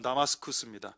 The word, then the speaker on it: 다마스쿠스: 다메섹, 여기 현대 발음으로 하면 다마스쿠스입니다.